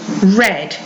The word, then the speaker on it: read: past tense our ad is read as in the color we also have lead